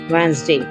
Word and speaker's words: Wednesday: Whenever you will found A, E, N before D, in that case D will be silent and the pronunciation will be badge, edge, handsome, hedge, sandwich, with, Wednesday.